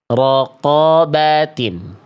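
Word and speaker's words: رقبة: Nah, pertanyaannya adalah, saudaraku, mengapa huruf qaf ini diucapkan seperti ini padahal memiliki vokal atas? Bukankah vokal atas, atau yang sering kita sebut fathah, seharusnya dibaca dengan bunyi vokal 'A' ? Ya, tetapi Anda harus tahu bahwa huruf hijaiyah memiliki karakter yang tebal dan karakter yang tipis.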